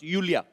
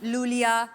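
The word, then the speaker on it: Iulia: Pronounce यूलिया। यूलिया। एंड the spellings are आई यू एल आई ए आई I think God you know I mean why I everyone is calling me लूलिया लोलिया बट लोलिया लोलिया आई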